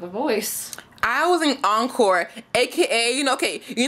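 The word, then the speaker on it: Oncore: So it's spelled E-N-C-O-R-E, but we're doing on, O-N-C-O-R-E. So we're like, encore, to make it sound cool.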